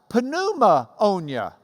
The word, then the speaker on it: pneumonia: You might have pneumonia. That's why pneumonia is spelled P-N, pneumonia, because it's the ammonia of the pneuma.